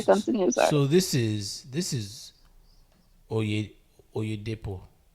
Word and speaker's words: Oyedepo: It's Oyedepo. Did I pronounce that right? Oh, yeah, Depo. Oyedepo.